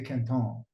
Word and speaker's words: Quinton: like some people say is it Kinton how do you say it it's it's the the gentleman that historically it's it's named after because he just he discovered it as Rene Kon oh Kon okay oh